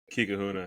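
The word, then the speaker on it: Kekahuna: Kikahuna. That's actually exactly how you say it.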